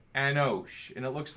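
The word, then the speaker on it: אנוש: the course they read this way and it's pronounced anosh anosh and it looks like this and it's man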